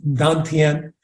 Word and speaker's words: Dantian: So I introduced the term Dantian, D-A-N, new word, T-I-E-N, pronounced Dantian.